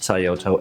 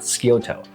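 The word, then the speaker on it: Scioto: here I'm so sorry it's pronounced sayoto and not skoto and the only reason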